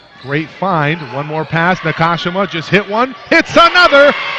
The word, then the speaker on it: Nakashima: I've been saying Nakashima, it's Nakashima. For Merced, Sullivan comes free, wide open three in transition off the mark.